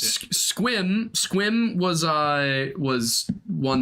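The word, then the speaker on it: Sequim: pronounced hump tulip there's no other way to pronounce it squim squim was uh was one that I was corrected on uh yeah I would have said seim yeah that one is in fact stum steel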